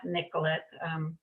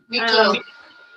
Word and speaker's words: Niclot: Someone help me out with it's not Nicolette. Sorry about that. My French pronunciation is very poor. So, Niclot. Laurent Niclot.